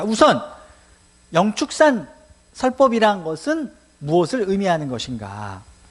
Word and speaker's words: 영축산: 근데 불교계에서는 공식적으로 그 조선시대에 쓰여진 법화경을 한글로 번역해 놓은 그 경전을 읽다 보면은 영취가 아니라 뭔가 발음이 사실은 정확하진 않지만 영축산 이렇게 읽힐 수 있는 글자로 쓰여져 있어요. 그래서 이게 축자로도 읽힐 수 있고 취자로도 읽힐 수 있기 때문에 축이라고 읽자라고 이제 대체적으로 이제 합의가 된 상태입니다.